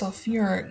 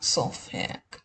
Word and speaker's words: sulfuric: So this is one that we do change the pronunciation a little bit on. So we call this sulfuric, not sulfic.